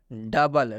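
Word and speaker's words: double: silent हो चुका है डबल डबल में भी ओ के बाद से यू आया हुआ है और जब भी ओ के बाद से यू आता है तो इस ओ का उच्चारण नहीं किया जाता और यहां पर हम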